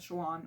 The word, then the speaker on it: Shallan: Shallan, I pronounced it as Shallan, which is the correct way to pronounce it.